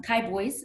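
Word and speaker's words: Kibois: names here so um kai boys is how that's uh pronounced and it's actually um the combination of two words uh kai mishi and sam boys and those are two mountain ranges here in the southeast part of oklahoma and so cowboys is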